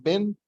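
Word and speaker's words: been: torta Claro claro y la pronunciación de de o sea doble e y n es Ven y no Bin verdad Es depende el área de Estados Unidos en la zona de California y demás o sea en la costa oeste de West Coast usa bim y en la zona de Coast que es Nueva York es nueva entonces da lo mismo cualquiera pronunciación está correcta No hay problema y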